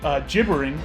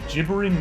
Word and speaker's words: gibbering: big old uh uh jibbering i found out that we were mispronouncing the word jibbering last week it is a gibbering mouther and it is blocking